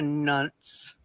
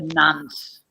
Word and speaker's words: nonce: Are you a nunce? He is a nonce. Is that how you say it over there in the UK? Nunce. Nonce. Make it an O. Make it a short O.